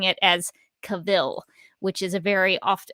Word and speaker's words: Cavill: also uh of henry cavill's name i like to think of it if you're having trouble remembering how to pronounce henry cavill's name correctly i just rhyme it with travel and that's how i